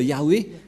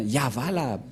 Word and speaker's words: Yahvah: que dans la translittération, ça ne devrait pas du tout être Yahweh qui ont induit en erreur les catholiques romains, car dans le Sefer Torah, c'est bien Yahva la prononciation, et on va prendre en photo, car certains aussi disent que c'est Yahwa, mais pas Yahva.